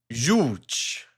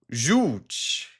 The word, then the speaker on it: żółć: Żółć. Żółć. That's not too difficult. The Z with the dot is a Z sound, I think.